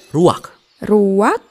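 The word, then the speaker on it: רוח: kehadiran Allah secara pribadi kata dalam bahasa ibraninya adalah ruwak-ruwak dah benar tenggorokan kita harus benar-benar bersih di akhir pengucapan jadi apa itu Memeh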